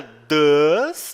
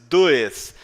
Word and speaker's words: does: A palavrinha does, tá? Você não diz does. É does, como se fosse o D, o A com o circunflexo e a letra S, tá?